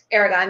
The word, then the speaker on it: Aragon: Is that the correct pronunciation? Aragon, yeah.